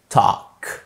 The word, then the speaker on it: talk: كمان ال بتبقى silent لما بتبقى جاية ما بين الاي وما بين الكي بمنتهى البساطة في كلمات زي walk، كمان talk.